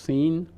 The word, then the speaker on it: Sin: But actually, that word in Hebrew it's pronounced sin, and the word means clay.